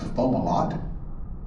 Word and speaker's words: Fomalhaut: star hovering in the southern sky, known as Fomalhaut. Right there, almost directly in front of us. Looks like Fomalhaut, but it's actually pronounced Fomalhaut.